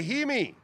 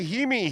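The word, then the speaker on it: Jaime: yay so we say he me we look at the J we say he me Buckets so I don't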